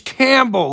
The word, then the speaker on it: Campbell: how to pronounce Campbell it's Campbell like that chicken soup this kid's not good